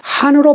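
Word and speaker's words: хаан: 칸은 영어 표현이고 몽골 사람들은 한으로 발음하죠.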